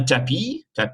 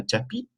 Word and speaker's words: tapis: Un tapis, S is silent, un tapis.